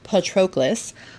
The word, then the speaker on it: Patroclus: I finally learned how to pronounce his name. It is Patroclus.